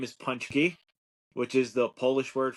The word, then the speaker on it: Paczki: got a new puppy uh his name is punchki which is the Polish word for donuts oh that's how you pronounce that word yeah wait oh my gosh